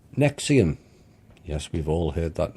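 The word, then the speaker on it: NXIVM: Nexium the drug, the same pronunciation as Nexium the sex cult and child pedophilia, with a young girl at the table with a pizza.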